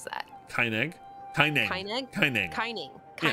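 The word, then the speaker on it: Kaineng: How do you pronounce that? Kineg? Kineg. Kineg? Kineg. Kining. Yeah. Kining. Okay, there's a jumping puzzle somewhere in old Kining, and I cannot find it for the life of me.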